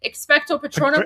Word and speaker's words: Expecto patronum: Expecto patronum. Wait, what is it? Petronium. Expecto petronium. Is that it? Is that the spell? Is that what it is? Yeah, Dementor, guys. Expecto patronum.